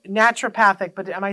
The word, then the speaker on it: naturopathic: Now, I've been saying naturopathic, but am I saying it wrong?